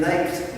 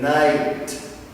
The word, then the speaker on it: night: good night good night the G and the H are silent you do not say these we do not say good night no but rather good night now informal greetings you